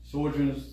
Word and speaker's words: Sjogren's: Sjogren's syndrome, traumatic. Is it Sjogren's? Yeah, SJOR. That's it. Yeah. So pronounce that. Sjogren's.